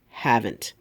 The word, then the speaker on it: haven't: the word is pronounced haven't some children haven't read this story notice how I'm hitting that T okay be careful of